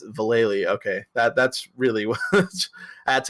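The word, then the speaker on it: Valelly: teenager, and then I was like, oh, it's Valeli. Okay, that's really what. That's how you spell that fucking last name.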